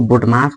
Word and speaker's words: BODMAS: और ये प्रश्न जो है बोडमास का है। सबसे पहले आपको बोडमास को बनाने के लिए कुछ आपको रूल्स आपको पता होना चाहिए।